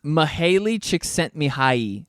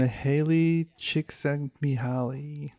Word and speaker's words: Mihaly Csikszentmihalyi: That is a tough one to pronounce. It's Mihaly Csikszentmihalyi, Oh. and he came up with the term flow state. Mihaly Csikszentmihalyi.